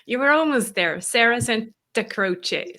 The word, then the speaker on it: Santacroce: Sarah Santacroce. So Santa like Santa Claus and Croce like Jim Croce.